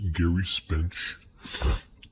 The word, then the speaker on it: Gerry Spence: That's pronounced Gerry Spence, and that's him on the cover.